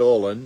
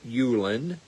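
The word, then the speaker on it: Ullin: U L L I N. Not Olen, but Ulan.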